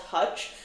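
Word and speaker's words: Toouch: So, this brand is literally called touch, but it's spelled T O O U C H.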